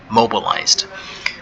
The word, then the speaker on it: mobilized: Okay, now mobilized, the past tense of that will be mobilized with a D at the end, and the D is pronounced as D, mobilized.